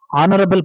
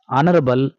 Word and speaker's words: honorable: likewise he is a honorable person is wrong he is an honorable person is right because here in the word honorable letter H is silent next she plays a